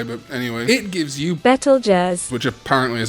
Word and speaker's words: Betelgeuse: is more correct, but Betelgeuse is not as incorrect as a lot of people like to make out. Language is ever evolving, and so while yes, traditionally the constellation is not pronounced Beetlejuice, it has now kind of become an official pronunciation.